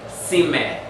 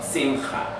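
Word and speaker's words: שמחה: When a Shaba is the end of a syllable, it's silent. So we don't pronounce the E sound on that. We don't say Sime. Ha. We say Sim or Simcha.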